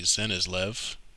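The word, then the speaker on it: Cenislev: material i am this wandzer is called a zenizlev and i already showed this the spelling c-e-n-i-s-l-e-v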